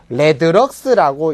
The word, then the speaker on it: 레드럭스: 그럼 조도의 단위와 광속 발산도를 구분하기 위해서 조도의 단위인 럭스라는 놈 앞에다가 R자를 붙여서 우리가 RLX라고 해서 레드럭스라고 읽는 요게 바로 광속 발산도입니다.